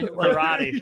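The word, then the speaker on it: Corradi: it's but spell it's spelled c o r r a d i karate that's Cathleen karate the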